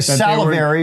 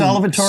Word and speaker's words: salivary: They were going to be getting Did you say food. salivatory? Salivary, I think I said. You said salivatory, but we'll let it go because it's Did I say it wrong?